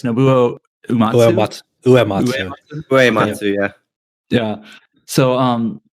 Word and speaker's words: Nobuo Uematsu: How do you pronounce his name? Like, I know you can read it all the time. It's Nobuo Uematsu.